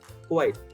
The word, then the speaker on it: quite: so quite diet and the third one rhymes with this word sight quite and uh what white